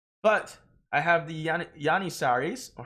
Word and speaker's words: Janissaries: But I have the Yanissaries, or Hanisaris. Yanissaris, I think is the correct pronunciation. I'm not quite so sure.